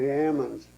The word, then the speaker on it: almond: i'm wondering about uh you say uh almond a lot of people say almond yeah why almonds almonds they say ammons yeah but it isn't it didn't spell that way hey oh yeah yeah